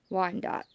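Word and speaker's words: Wyandotte: buying some so it is a silver laced wine dot okay i actually had to look up that pronunciation also but it's originally known as an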